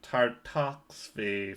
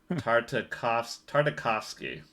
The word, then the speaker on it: Tartakovsky: Adam Devine is a fixed pooch in R-rated Gendy Tartakovsky film. Sorry for mispronouncing that. Tartakovsky.